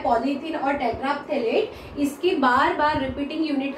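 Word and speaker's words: terephthalate: Polyester जो होता है, पॉलीथीन और टेट्राफ्थेलेट टेट्राथेलेट, ये जो है पथेलेट नहीं बोलना है, ये पी साइलेंट होता है, तो पॉलीइथीन और टेट्राथेलेट का जो है पॉलीमर होता है।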